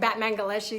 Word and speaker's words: Batmanghelidj: He's like, his name is, it's pronounced like Batmanghelidj.